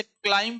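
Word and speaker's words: climb: तो silent letter words में जैसे क्लाइम पढ़ते हैं इसमें बी साइलेंट रहता है।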